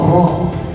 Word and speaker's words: rho: garis nah ini adalah r h o ro dibacanya ro ya Nah ini massa